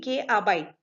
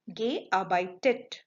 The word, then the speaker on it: gearbeitet: If you do not add this e, it will be almost impossible to pronounce. Or if we pronounce, we won't be getting that participes y form because it will be gearbeit. Gearbeit. So that is wrong. So that is why to make it comfortable to pronounce, we have to add extra e. So the participes y form will be gearbeitet.